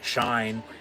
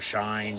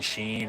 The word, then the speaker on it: Shein: to my attention recently, I've been saying Shine for the past few months, but I guess it's pronounced either Shine, Sheen, or Shein. So use your imagination, call it whatever the hell you want.